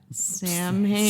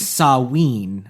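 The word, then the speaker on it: Samhain: Uh, and it also involves as part of the plot, now it's spelled s a m h a i n. Yeah. Sam Hayne. Sam Hayne, but it's pronounced sawin.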